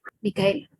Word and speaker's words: Micael: Micael. Así tal cual como se escribe.